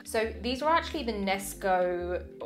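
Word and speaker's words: Knesko: So these are actually the Nesco, I think that's how you say it, Nesco, it's K-N-E-S-K-O.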